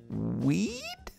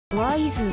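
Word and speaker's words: W'z: Oh, hold on, they put the pronunciation under it. Weed? Wise.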